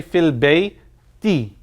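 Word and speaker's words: في البيت: the end of it it should usually say L Bay - right if I were usually using any noun it always should have a a sound at the end of it or an unsound rather it has an e sound we say Phil Bay D the e sound is caused because of this preposition fee is a preposition and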